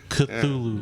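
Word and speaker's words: Cthulhu: it cthulu cthulu oh okay it's weird spell it's spelled weird it's cthulu cthulu or if you're a Metallica fan culu culu so reanimator and from Beyond I recommend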